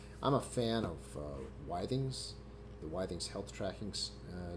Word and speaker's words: Withings: I I checked with them they call it wthings they've rebranded the pulse to be pulse O2